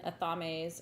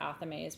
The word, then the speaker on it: athame: And so these are little obsidian athames or athames, people pronounce it differently.